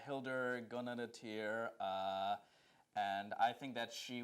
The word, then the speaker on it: Hildur Guðnadóttir: Yes, I also believe, and I believe that her name is pronounced Hildur Guðnadóttir, and I think that she will deservingly win.